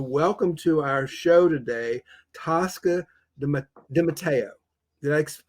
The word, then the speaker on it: Tosca DiMatteo: And I'm so excited to welcome to our show today Tosca Dimatteo.